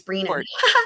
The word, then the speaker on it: Brennan: Brennan, who previously defended Whitey Bulger in federal court, She's not saying it right. It's Breenan.